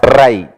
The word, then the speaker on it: Rai: You should pronounce as Rai, riches.